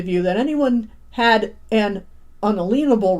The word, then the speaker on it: unalienable: endowed them with certain it's not inalienable it's unalienable people mispronounce that all the time unalienable rights that means you can't take them away as explained in the declaration of independence it says unalienable not inalienable anyway indeed the very